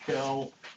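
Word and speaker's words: Quelle: gospel which which is a German word that's I think you pronounced Kell q e l l e which just means Source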